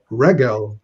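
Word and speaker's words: רֶגֶל: Regel, the segulate noun, notice accented on the first syllable.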